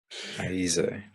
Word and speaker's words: Ayize: I read your name when you gave me the pronunciation as Ayize, and then I heard you say your own name on a clip in Instagram and heard Ayize. Yep. So could you please correct me? Ayize. Ayize.